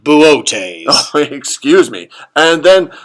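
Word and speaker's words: Boötes: Perseus versus Cetus, Big Bear versus Booties. It's pronounced Buotes.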